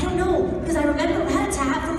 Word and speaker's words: Rattata: I don't know, because I remember Rattata from like a long time ago. And so now every time I do that, I have to say, Rattata, frittata, Rattata, frittata, Rattata.